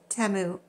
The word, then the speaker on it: Temu: look back it says experimental temu order and that is how you pronounce it I saw a commercial